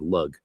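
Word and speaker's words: Lugh: a dot over it which is called a shvu which is a kind of diiocritic that softens the consonant and aspirates it. Hence lu instead of lug.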